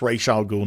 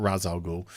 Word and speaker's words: Ra's al Ghul: The whole Ra's al Ghul, and it's Ra's al Ghul, not Ra's al Ghul. The whole Ra's al Ghul thing, they mispronounce it.